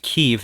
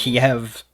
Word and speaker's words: Kyiv: pronounced Kyiv now, and it's He'll spelled never extinguish their love of K-Y-E-V. EV. And he will never, never weaken the resolve. I always knew it of as people. Kiev, spelled Kiev, but I think that's maybe a